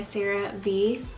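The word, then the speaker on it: CeraVe: my other videos I always moisturize with my Serie B and so that's how you say it daily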